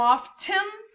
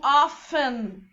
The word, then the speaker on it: often: Lembrando que essa palavra often, ela pode tanto ser pronunciada como often, como often, e as duas estão corretíssimas.